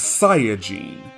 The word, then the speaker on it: Saiyajin: Saiyan in the Japanese version is Saiyajin. Saya is an anagram of yasai, which means vegetable.